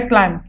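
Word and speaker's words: climb: जैसे कि पहला वर्ड है क्लाइंब, तो इसमें जो है बी का लेटर साइलेंट आ रहा है, क्लाइंब.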